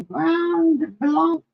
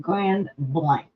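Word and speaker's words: Grand Blanc: you look nailbox 1117 ground blank actually they pronounce it Grand Blank just letting you know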